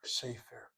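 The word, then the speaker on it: ספר: say the word book safer to a book safer. The accent is on that first syllable.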